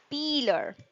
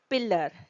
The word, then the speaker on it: peeler: Word number six and a very common word that we usually use in our kitchen that is peeler. Peeler, not pillar. It's not pillar.